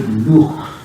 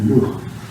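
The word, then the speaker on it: Loock: And also Luke, although they pronounced it Luch, L-O-O-C-K, because you sometimes come across the name as Luch.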